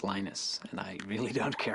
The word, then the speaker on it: Linus: speak Finnish it's lenos when I speak English it's lonus and I really don't